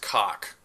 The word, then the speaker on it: Koch: There's really no wonder that their name could also alternatively and pejoratively be pronounced cock.